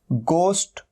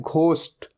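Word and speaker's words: ghost: और कई लोग इसे गलत भी प्रोनाउंस करते हैं, इसे कहते हैं घोस्ट। ये घोस्ट नहीं होता, हमेशा ध्यान रखना है, ये क्या है, गोस्ट, गोस्ट।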